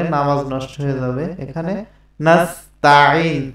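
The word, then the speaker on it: نَسْتَعِين: এখানে তাইন বললে নামাজ নষ্ট হয়ে যাবে। এখানে নাস্তাঈন, তা জবর তা, নাস্তাঈন এরকম।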